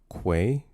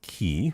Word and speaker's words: quay: It's pronounced quay. Uh, say it with me now with a Q. Quay. I just have a problem with F and P. Not key.